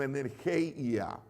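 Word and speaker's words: ἐνέργεια: de poder es energía no energía sino energeia una e agregada ahí en su pronunciación pero la operación de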